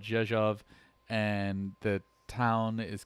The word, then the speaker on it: Rzeszów: near a town called Rzeszów. And I know I have problems pronouncing it. It's called Rzeszów, and the town is called Dynów.